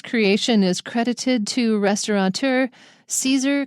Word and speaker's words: Caesar: Wow, his name is difficult because you see CA and you want to pronounce it K. So the first one is and the second one is K, but they're both CA.